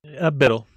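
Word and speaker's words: BDL: He is the host of Big Daddy Linux Live, or how did you pronounce it? Biddle. You do say Biddle, okay.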